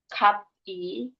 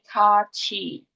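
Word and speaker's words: 같이: Inilah kenapa ini kat i kat i itu bukan dibacanya k i kati tapi kachi.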